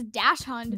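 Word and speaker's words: dachshund: of those words that if you look at how it's spelled it's pronounced nothing like it's spelled I think I still think it's dash hund dash hun is what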